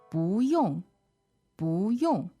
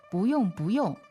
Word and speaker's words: 不用: 不用,不用. Okay, there's a little tone change here. Don't worry about it. It's second tone, fourth tone when you pronounce it. 不用, right? Right. 不用,不用. So up and down.